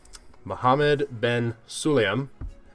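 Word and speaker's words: Mohammed Ben Sulayem: more F1 FIA related news excuse me um Mohammed Ben suliam that's how you pronounce his name is taking a step back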